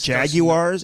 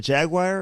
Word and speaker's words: Jaguar: I'm like, dude, I want, once the fucking, everything's Jaguars? Is it a Jaguar or Jaguar?